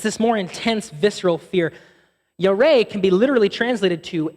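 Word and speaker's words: ירא: It looks like it's pronounced yar, but it's actually pronounced yareh.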